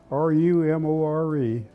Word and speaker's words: Rumore: My name is, well, everybody calls me Rumore, R-U-M-O-R-E. If it were pronounced correctly, it would be Rumore. It's an Italian name.